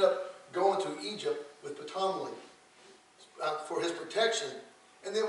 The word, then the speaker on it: Ptolemy: The two kings, the first king of the south, it was Ptolemy, Ptolemy. That's how you say that.